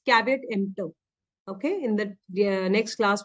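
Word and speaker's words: caveat emptor: spoken or written page is asking how to pronounce cavat EMP it's cavat EMP okay in the next class we will be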